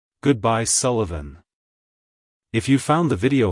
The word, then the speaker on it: Sullivan: significance it's pronounced as Sullivan Sullivan Sullivan to pronounce it correctly emphasize the first syllable Su and lightly pronounce the uh in the second syllable followed by a clear aant sound like hello Sullivan goodbye Sullivan if you